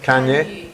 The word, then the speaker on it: Kanye: We have Donalde and Kanye. Am I pronouncing it correctly? Kanye. Kanye, as in the singer? Sounds like a popular name. Okay. Kanye, like in Kanye West.